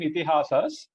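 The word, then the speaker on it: इतिहास: To sort out these issues came Ithihasas. Pronunciation is Ithihasa, right? Two long vowels there, right?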